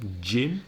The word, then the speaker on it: gym: giant general gym gymnasium gym that's gy m gy not J I am no but the sound is exactly the same the J sound in Jim and Jim exactly the same pronunciation g IM or sorry